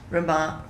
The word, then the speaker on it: Rama: of them is rama rama r a m a long a at the Again Rama